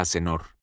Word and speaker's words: Azincourt: El francés, con un dejo de corrección, Musito, en realidad se pronuncia aenor, quizá batalla de Aenor, pero ya era demasiado tarde.